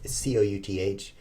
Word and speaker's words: couth: what that means kuthe cou th looks like it's spelled calif but why would it be when it could be couth I will take that